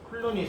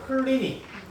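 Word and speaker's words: Cluny: 바로 클루니 수도원에서 수도원 운동을 벌이는 겁니다. 자, 이 클루니 혹은 클리니, 영어 발음 차이니까 그냥 두 개 다 맞는 표현입니다. 클루니, 클리니.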